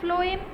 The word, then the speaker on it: phloem: So the xylem will transfer the water and minerals which is in the soil, but the phloem will transfer phloem, F, pronunciation is F, right?